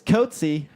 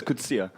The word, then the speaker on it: Coetzee: Darius Coetzee. Still wrong. It's Kutsia. Kutsia. Kutsia. It's French. Okay.